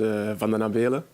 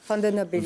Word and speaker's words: Van den Abelen: langue, tu le prononces Van den Abelen. Mais lui, c'est différent. Attends, Mathias, vas-y. Moi, je l'appelais Vandenabil ou Vandenabel. Oh là là. Il m'a repris à chaque fois. Van den Abelen.